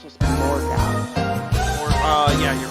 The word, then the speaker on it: Morgoth: I think it's just Morgoth. Yeah, you're right. It's Morgoth. I always like mispronounce his name for some.